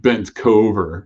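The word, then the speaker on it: Bencover: that's easy handle but bent cover so it rhymes with like over not cover but everybody says my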